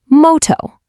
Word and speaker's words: moto: It's a nice round o sound just like in the word go. Let's give it a try with the word for fire. Moto.